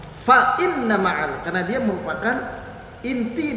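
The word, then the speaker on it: فَإِنَّ: Kalau ada orang baca pakai wa inna ma'al usri yusra, wa inna ma'al usri yusra, itu keliru. Yang pertama pakainya fa bukan waw. Fa inna ma'al, karena dia merupakan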